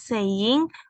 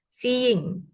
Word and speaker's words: seeing: is saying view in the evening. Iya. Seeing. Seeing. Ya, yang kayak aku kasih tahu tadi ya cara bacanya. Bukan saying, tapi seeing.